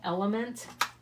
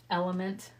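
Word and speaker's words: LMNT: to bring back in that company is called element and they spell it like this l m n t element I think I have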